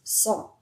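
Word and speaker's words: ص: th the th the Next we have sa versus saw. Your mouth is more round and open when you say saw.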